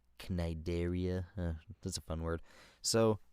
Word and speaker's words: Cnidaria: Up next, we got the Nidaria, the jellyfish thingies. Oh. I don't know how to pronounce that. It's got a C in it. Cnidaria.